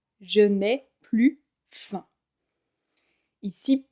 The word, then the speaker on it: plus: Je n'ai plus faim. Ici, plus signifie ne plus. Donc le S est muet.